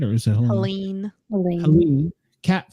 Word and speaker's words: Helene: Helena, am I saying it right, or is it Helene? Helene, cat 4, 140 mile an hour winds, 822 miles wide, with a wind field of 370 miles.